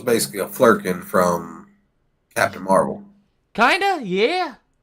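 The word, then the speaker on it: Flerken: So it's basically a Flurkin from Captain Marvel.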